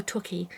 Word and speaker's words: Torquay: And Graham go, Torquay.